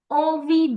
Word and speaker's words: envie: Avoir envie de dormir means to feel like sleeping. Okay? The pronunciation of en put together here is en.